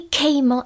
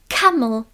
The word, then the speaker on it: camel: A co tohle slovíčko Tohle není keel ale Kamel Kamel Zas tam je to a to otevřené áčko tady toto které jsme si ukazovali dávám pozici na E ale řeknu a c